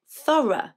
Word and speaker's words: thorough: and then you've got words like thorough which means detailed and careful and there you have o-u-g-h which is pronounced as a schwa i don't think i